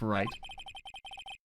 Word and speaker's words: Wright: w on there but you don't you don't pronounce the w the w is just there it's like a joke